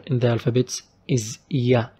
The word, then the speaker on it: ي: Our last letter in the alphabets is ya. It's like how we pronounce Y letter in English in any word, like yawn.